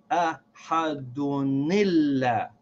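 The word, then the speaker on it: أحدٌ: al-wasl is that when I say ahadun, instead of reading that noon sound in dun as if it has a sakin, I'm going to read that noon as if it has a kasra. So I will say ahadunillah. I'm going to read that noon sound from the tanween with the kasra.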